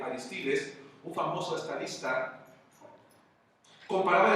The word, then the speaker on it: Aristides: Un hombre muy famoso llamado Aristides, dicen que así se debe de pronunciar correctamente, Aristides, un famoso estadista, comparaba